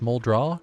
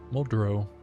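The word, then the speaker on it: Muldraugh: Something Some people think it's pronounced Moldra. No, Muldro.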